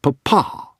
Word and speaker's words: papa: say Mom and Dad mama and papa with the emphasis on the final syllable mama and papa well perhaps not that